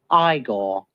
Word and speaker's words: Igor: it's Frederick Frankenstein I see you must be eigor no it's pronounced igore but they told me it was eigor well